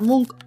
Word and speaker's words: Munch: que representa este cuadro Edward munk o Edward munch como quieras pronunciarlo pintó esta escena al